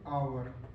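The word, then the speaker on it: hour: अगर इसके हिसाब से तो एच आता है कसोनेंट में तो क्या इसके पहले अ लगाएंगे नहीं अगर हम लोग इसको प्रोनसिएट कर देते हैं तो इसको हम लोग बोलेंगे आवर है ना आवर ऐसे बोलते हैं आवर हव नहीं बोलते आवर आवर तो आवर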